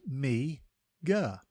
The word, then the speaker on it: meagre: one word at a time today's word is migga it is pronounced MGA and is spelled m e a g r